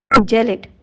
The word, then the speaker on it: gelid: जेलिट, इसे गैलेट नहीं प्रोनाउंस कीजिएगा, जेलिट, GELID जेलिट, ठंडा।